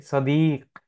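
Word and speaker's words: صديق: ফ্রেন্ডসকাদে সো খেয়াল রেখেন এই উচ্চারণে কিন্তু চেঞ্জ হলে অর্থ চেঞ্জ হয়ে যাবে সাদেক সত্যবাদী সাদিক ফ্রেন্ড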